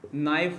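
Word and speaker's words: knife: तो यहाँ पर देखो बहुत सारे वर्ड हैं, नॉलेज, नॉलेज हो गया, नाइफ हो गया। अब देखो यहाँ पर क्या है, के साइलेंट है।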